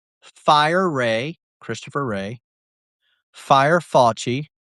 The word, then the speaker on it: Fauci: Fouchy. Fouchy. Fauci. It's spelled fu cci. Sorry. It's Fouchy.